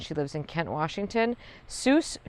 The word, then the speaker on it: Seuss: Seuss Creek Botanical Garden, pronounced like Dr. Seuss.